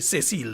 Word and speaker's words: Cecile: Now, Her Excellency, the Governor General, Dame Cecile Lagrenade, will be, I know she would love the way that I pronounce her first name, Cecile. It's not Cecile, eh?